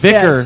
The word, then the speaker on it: VYKKR: It's VYKKR. You pronounce Vicar.